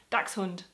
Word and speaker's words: dachshund: it should be pronounced dachshund but it should not because Ducks is one word and it has a CH s sound and is X so correctly it is dachshund so I hope this